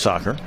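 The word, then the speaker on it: Socher: spelled s so c h e r but pronounced soccer R their left fielder his last name is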